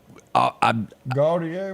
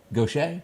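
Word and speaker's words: Gautier: Gaucher? Yeah. Okay. But it looks nothing. Why don't they spell it Goshay? It's French. Well, they got problems over there. We were talking about this the other day. Gaucher.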